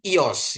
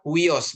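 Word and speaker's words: υιός: Kita sering mendengar huos gitu ya Bapak Ibu ya. Huyos ya. Tapi ini bacanya iOS. IS ya. I anak laki-laki gitu kan. Wos itu kan wios. Kita sering wios tapi kita belajar kita rubah lagi ya. Jadi ini bacanya iOS ya.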